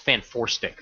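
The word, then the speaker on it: Fant4stic: out and and that is supposed to be pronounced fan foric by the way uh that's that's how I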